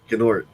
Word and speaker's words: Gnort: Gnort. No, it's pronounced Nort. Oh, it is. Gnort. The G is Yeah, the silent? G is silent.